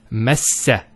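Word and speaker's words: مسّ: It's a meme followed by a sin, and there's a shadda, and it's massa.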